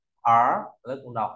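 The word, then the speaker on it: 儿: Theo ta có từ nhi là về nhi đồng, phẩy này, sổ uốn tròn và móc lên, ta đọc là gì ạ? Ở, lớp cùng đọc ở, ở.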